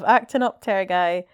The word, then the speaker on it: Actinopterygii: Ooh, that is a word to pronounce. Yeah. Actinopatigi. Actinopatigi. Not far off. Actinopterygii.